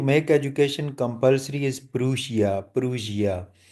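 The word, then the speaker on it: Prussia: प्रूशिया, इसको सही जो प्रोनाउंसिएशन है दैट इज प्रूशिया।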